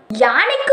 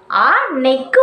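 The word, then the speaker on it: ஆநெய்க்கு: அந்த பழமொழியை பயன்படுத்தி இருப்போம் ஆனா இந்த பழமொழியை இப்படி உச்சரிக்கவே கூடாதுங்க இந்த பழமொழியை எப்படி தெரியுமா உச்சரிக்கணும் ஆ நெக்கு ஒரு காலம் வந்தால் பூ நெய்க்கும் ஒரு காலம் வரும் அப்படிங்கிற ஒரு உச்சரிப்பு தான் கரெக்டான உச்சரிப்பு நம்ம இவ்வளவு நாள் இதை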